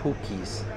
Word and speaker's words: pukis: So these are called pukis. These are called pukis. Not. It's spelled P-U-K-I-S. So, don't think it's pukis. It's pukis.